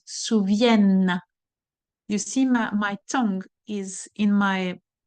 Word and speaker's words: souviennent: You see, my tongue is between my teeth, souviennent. All right? It's not the E, the N, and the T are not pronounced here because we are in the conjugation word.